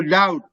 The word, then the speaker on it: doubt: the the what's that that b is silent there is no doubt there is no doubt